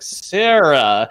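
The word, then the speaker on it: Sera: that for game 10 it's like sarah but it's spelled it's spelled wrong it's s-e-r-a it's like oh just one r okay nouveau sarah basically if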